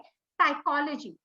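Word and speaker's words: psychology: अंग्रेजी का शब्द है साइकोलॉजी। आप देखिए, जब इसका आप उच्चारण करते हैं इसमें पी साइलेंट है, तो फिर यहाँ पी लिखने का उद्देश्य क्या है?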